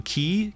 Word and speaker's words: quay: Quay a a fishing Key quu a y you pronounce it key stupid English we could grab some